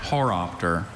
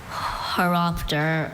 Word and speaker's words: horopter: so close when also horopter. Haropter or Horopter. Okay. Wish I got kiteness. So many information. Sure. Haropter. Horopter are the pronunciations I have.